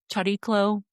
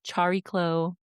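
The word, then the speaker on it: Chariklo: It looks like Charyklo, Charyklo, like it's spelled c h a r i k l o if that helps.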